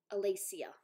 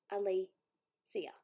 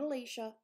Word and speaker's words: Alicia: My name is, listen to the pronunciation, Alicia. Alicia. Not Alicia, Alicia.